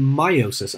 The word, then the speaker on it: meiosis: And what you make in meiosis, I know it says me, but it's pronounced meiosis, is you're going to make these structures called gametes.